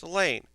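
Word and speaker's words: Elaina: Now I know it's spelled Elania, but they call her Elaine in the show, so we're gonna go with that. That is her name. It's Elaine.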